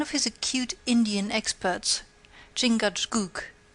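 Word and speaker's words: Chingachgook: his acute Indian experts chingad pronounced Chicago I think has lost the trail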